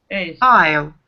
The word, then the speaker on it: aisle: Aisle. Aisle. Там ни S не читается, ни ничего. Aisle.